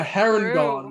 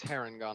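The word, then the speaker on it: Harengon: but now we have the heron or however you pronounce that race yeah it's haren gone i'm pretty sure yeah so now we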